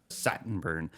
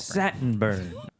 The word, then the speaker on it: Saltburn: Saltburn. It was given a limited Saltburn. Oh, it's Saltburn. Saltburn. Satin burn.